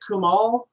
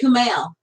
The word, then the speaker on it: Kumail: Is it Kumal? Kumal Nanjiani. I never can say it right, and I hate saying it. Nanjiani. Nanjiani. Kumal Nanjiani. Sorry, Kumal. Or is it Kumail? I think it's Kumail.